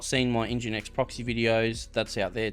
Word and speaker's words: NGINX: That's correct, it's called NGINX Proxy Manager. I was mispronouncing it in earlier videos, so I've been corrected on that.